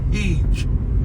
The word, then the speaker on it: Heage: And here we come into a place called Heege, spelled Heage. And you'd probably have to be told how to pronounce that, and I suppose you can guess it.